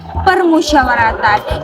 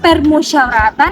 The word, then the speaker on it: permusyawaratan: pada kata permusyawaratan nah Nah seringkiali teman-teman kita mendengarkan pelafalan kata permusyawaratan menjadi permusyawaratan namun yang sebenarnya namun yang sebenarnya pelafalan kata permusyawaratan adalah epepet jadi e lebih lebar daripada permusyawaratan pemakaian kata Senin dan